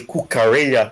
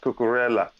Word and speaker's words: Cucurella: right here is the kukarea coaster it's muy bien muy excelente oh and we've been the whole day i've been pronouncing it cookerella and thank you joshua then catch that and